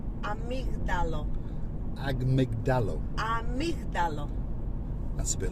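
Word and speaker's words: αμύγδαλο: Amygdalo. Amygdalo. So it's a bit like drizzling Deborah.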